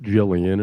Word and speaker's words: Gillian: I used to pronounce it wonderful. Jillian until I met Karen and she corrected me.